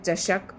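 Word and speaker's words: चषक: एक में श है। मूर्धन्य श है। दूसरे में दंती श है। दोनों का ध्यान रखना है। चशक और यह चसक। बस ऐसे ही पढ़ना है आपको।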